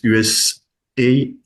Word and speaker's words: USAID: Alors certains prononcent USAID. Normalement, je crois que c'est USA, comme USA, hein, les États-Unis d'Amérique, ID comme International Development.